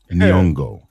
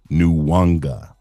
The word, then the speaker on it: Nyong'o: Her name is Nyong'o, not Nwanga. I don't know where Ryan is seeing the letter W in her name, what with it literally being on screen.